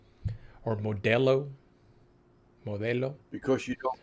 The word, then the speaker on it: Modelo: don't pronounce the E Modelo so it's a hard L I think it's what gives it away so for non non-spanish speakers you got to soften the L don't say Modello say